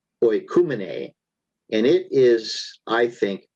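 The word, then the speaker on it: οἰκουμένη: And the fourth word is that one, which is pronounced oikumene, and it is, I think, world as a political identity.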